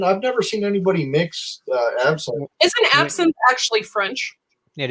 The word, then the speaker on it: absinthe: She says synth. It's absinthe. Absinthe. She's adding syllables, but she adds syllables.